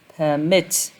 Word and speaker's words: permit: If you pronounce the word, it would be permit permit. And you can see that the stress is on the second syllable, which contains this vowel.